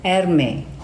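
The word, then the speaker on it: Hermès: Tapi ini lipstiknya ini dari Hermes. Tapi pronounce-nya itu Hermes.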